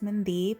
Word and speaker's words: Mandeep: Hi my name is Mandeep (Punjabi pronunciation) or Mandeep (English pronunciation) and you're watching Disney Channel.